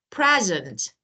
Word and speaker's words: present: Okay, both the same word, but this one, the stressed syllable, that is present, present.